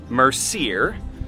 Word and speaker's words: Mercier: I just got back from grabbing our goodies from the apple orchard, which the register told me is pronounced Mercier. So we're gonna go with that.